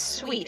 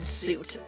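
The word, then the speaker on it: suite: It's It's pronounced sweet, isn't it? Yes, it's sweet. It's like a building or an apartment, but boy does it look like it should be said suit.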